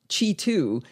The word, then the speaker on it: Qi2: That's spelled Q-I and the number 2 slapped right up against the word Qi.